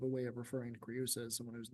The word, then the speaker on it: Creusa: Speaking on hexameter and some other stuff, we've got the repetition of etherumque right after creusa. Creusa, we are going to separate it, that EU is not a diphthong here, right?